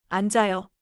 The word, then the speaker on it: 앉아요: Spelling is 앉아요. Sound flows like 앉아요. 오늘은이 한 문장만 기억하세요. 앉아요는 안짜요처럼 들려요.